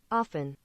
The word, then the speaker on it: often: say okay sure pronunciation what does google say here it is often say it again i'll slow it down often there's no t there yeah there is a t in the word but it's